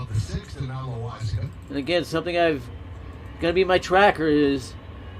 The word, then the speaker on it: Loaisiga: I don't know why they pronounce it so bad. It's Loaisiga.